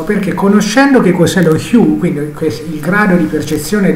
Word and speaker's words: hue: Abbiamo preso una mela qualunque da Google Immagini e per fare questo dobbiamo parlare di un argomento che viene definito hue, viene pronunciato così in inglese, lo hue.